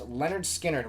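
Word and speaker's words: Lynyrd Skynyrd: my entire collection the first being leonard skinner's pronounced leonard skynyrd which is their first album this debut is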